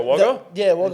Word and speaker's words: Wagga Wagga: Is it Wagga Wagga? Wagga Wagga.